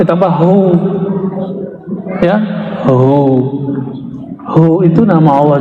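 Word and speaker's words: هو: Hu, bacanya hu, jangan huwa, kecuali disambung.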